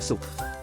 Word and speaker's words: ศุกร์: 3 ตอน เย็น วัน ศุกร์ คุณ แม่ กิน ทุเรียน ศุข อย่าง มี ความ สุข สิ่ง ที่ เหมือน กัน คือ วัน ศุกร์ ทุเรียน สุข และ ความ สุข ออก เสียง คำ ว่า สุข เหมือน กัน ประโยค ที่ 4 คุณ